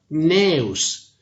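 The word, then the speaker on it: Gnaeus: For instance, CN stands for Neus.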